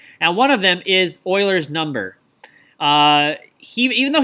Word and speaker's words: Euler: actually a mathematicians name and it is not pronounced ulor it is pronounced Euler kind of the best way to write that